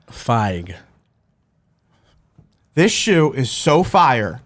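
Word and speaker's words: Fieg: Picture F, an eyeball, and a G. It's Feig. Feig.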